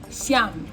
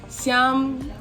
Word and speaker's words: siyam: Siyam. Siyam.